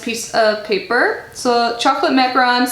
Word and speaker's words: macaron: sounds so good or macaron sorry I always mispronounce macaron um and say macaroon just because those two